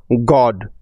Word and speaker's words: God: উ এর short sound হলো অ, সেজন্যই GOD, গড এবং NOT, নট, এরকমভাবে শব্দ দুটি উচ্চারিত হয়েছে।